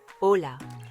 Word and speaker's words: hola: par quelques mots simples hola bonjour rappelez-vous le h muet concentrez-vous sur les sons O et A amigo ami remarquez le